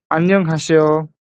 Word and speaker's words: 안녕하세요: ইংরেজি এস ব্যবহার করবেন, বাংলা দন্তাসের কথা চিন্তা করবেন না, চিন্তা করবেন ইংরেজি এস, তাহলে হবে আন্যও।